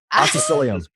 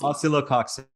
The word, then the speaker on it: Oscillococcinum: No, it's oscillococcinum. Oh. Oscillococcinum? Oscillococcinum, yeah. Oh, okay. We get the cox in there.